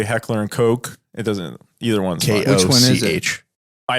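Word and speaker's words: Heckler & Koch: time another conversation but I believe it's pronounced Heckler and Coke now correct me if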